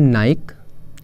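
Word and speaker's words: Nike: इसको लोग बोलते हैं नाइक। इसके बहुत सारे विंटर क्लॉथ्स आते हैं तो हम बोलते हैं नाइक, बट नाइक is totally incorrect, correct is नाइकी।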